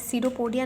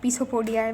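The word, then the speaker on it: pseudopodia: Okay, opening ceropodia, that's ceropodia, not pisopodia. When I do use pronounce that pisopodia earlier, but that is ceropodia.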